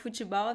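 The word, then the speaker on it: futebol: attention to the pronunciation although we don't have any vowel right after the t uh we pronounce the e sound fuso fujisao in brazil right so this pronunciation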